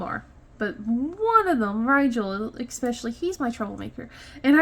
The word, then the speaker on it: Rigel: And they're like, oh, Nigel. I'm like, no. Rigel, like the star.